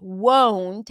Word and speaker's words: won't: difference between two vowels won't has the long o as it go whoa won't like no we practiced it at